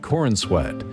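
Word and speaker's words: Corenswet: This time played by David Cornsweet.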